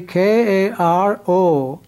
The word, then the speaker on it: karo: Similarly, K-A-R-O will be karo, because there is O sound at the end, karo.